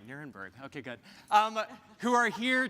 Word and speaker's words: Nirenberg: are here to I did say it right, Nirenberg.